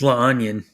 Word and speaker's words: La Union: Well, we call it it's La Onion. That's how they say it.